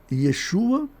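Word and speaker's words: ישוע: Assim, Yeshua, o nome de Jesus em hebraico se pronuncia Yeshua, ou Josué, ou Joshua, dependendo da transliteração.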